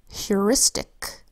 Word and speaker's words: heuristic: Heuristic is spelled with an H that says H, then an EUR that says EUR, an I that says I, an S that says S, a T that says T, an I that